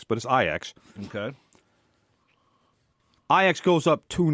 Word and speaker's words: Ajax: in Amsterdam to face IX I often commonly mispronounced as Ajax but as IX okay IX goes up to nil in the